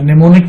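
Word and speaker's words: mnemonic: निमोनिक में मैं आपको बता दूं कि M साइलेंट होता है।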